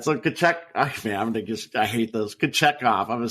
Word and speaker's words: Kochetkov: No, I mean, I did look it up, and that's how it looked like the phonetic should be, is Peter. I'm going to say Kochetkov. There, Kochetkov. Kochetkov? Pyotr Kochetkov, something like that.